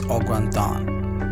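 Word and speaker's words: au gratin: So the pronunciation of this is Augratin.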